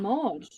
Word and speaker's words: Maud: Maud.